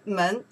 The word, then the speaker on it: 门: It's outside, we pronounce the men, okay?